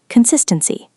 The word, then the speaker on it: consistency: Consistency. Next word. Momentum. Stress on the second syllable.